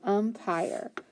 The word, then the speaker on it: umpire: And then my U is in front of my M, so the U is short. So my first syllable says And then I have an I, and then I have an E. So I've got an I consonant E word. So that I is long, and that E is silent. So p-ire, pyre, so umpire.